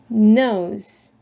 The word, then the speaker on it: nose: 자, 그래서 O 발음 역시 뒤에 E는 발음이 나지 않는 묵음이고요. 자, 그래서 nose, nose.